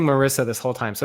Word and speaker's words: Marissa: saying your name wrong it's Marissa that's right it's like Teresa with them ok so I apologize I've been saying Marissa this whole time so